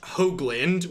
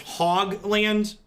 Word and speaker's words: Hoagland: last name is pronounced Hoagland with a long Oh sound many cards are in my deck 42 - they're 17 you'll often often hear me on stream pronounce my last name as hog land that self-deprecation yes we're